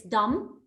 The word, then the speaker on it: dumb: shy feeling shy embarrassed dumb we don't pronounce the b here it's dumb don't ask young questions